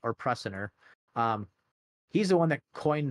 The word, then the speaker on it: Prusiner: So now Stanley Prusiner, I think I'm pronouncing that right, or Prusiner, he's the one that coined the term prion, and he actually pronounces it prion, in 1982.